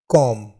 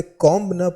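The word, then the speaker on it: comb: जाएंगे और next world कॉम सी ओ एम बी इसमें जो है वह साइलेंट होता है हम इसे कोंब करके हम इसे कॉम बढ़ते हैं जिसका अर्थ होता है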